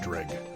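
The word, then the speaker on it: Dreugh: I realize Drew shields. Dreg shields. The name is confusing. It's actually pronounced Dreg.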